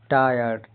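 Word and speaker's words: tire: जैसे एफ आई आर ई फायर Hindi अर्थ आग गोली चलाना नौकरी से निकालना टी आई आर ई टायर टा इ आर हिंदी अर्थ टायर नाउन है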